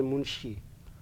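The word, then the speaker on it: Munchi: but you will find in the list m-u-n-c-h-i and it will be pronounced as munshi and there is no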